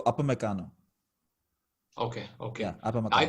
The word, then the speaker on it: Upamecano: it's UP, so Upamecano.